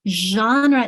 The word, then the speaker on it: genre: Genre is tricky. Yes, that zh sound, like in measure, that genre is a tricky one.